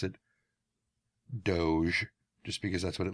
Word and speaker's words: Doge: And looking it up, apparently it is pronounced Doge. I still want to pronounce it Doge, just because that's what it looks like to me.